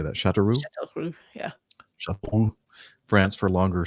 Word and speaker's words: Châteauroux: Châteauroux, yeah.